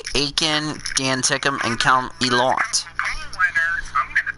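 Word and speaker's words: Ilott: Jack Aiken, Dan Tickham, and Callum Elott.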